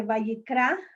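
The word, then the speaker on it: Vayikra: actora por la ley en hebreo no se dice el edifico se dice valle cra y llamo porque en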